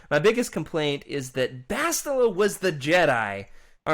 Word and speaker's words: Bastila: girl in the end bastila of course or if you're freddie who says bistilla like he doesn't know what he's talking about isn't that how you